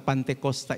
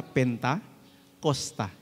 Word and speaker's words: Pantekosta: Kita punya gereja namanya Gereja Pantekosta di Indonesia. Kata Pantekosta itu sebenarnya diambil, ya, dirujuk dari kata Pentakosta. Cuman masalah pelafalan saja. Jadi Pantekosta. Tetapi sama artinya.